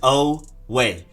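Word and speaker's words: Oweh: have edge jason away literally just oh way jason away next up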